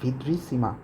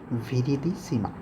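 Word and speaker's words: viridissima: Hydra ভিদ্রিসিমা। আচ্ছা, আমি এখানে একটু ভুল উচ্চারণ করেছি, সেটা হলো হাইড্রা ভিরিডিসিমা।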